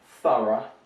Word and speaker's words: thorough: over here we have this quite strange spanning thorough right so here you can see the transcription thora um or we can have